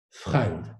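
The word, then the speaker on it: Fremde: C'est-à-dire que ce Nibelmensch se présente comme ayant une part d'étranger en lui, là où l'allemand écrit F-R-E-M-D-E et qui se prononce Freund.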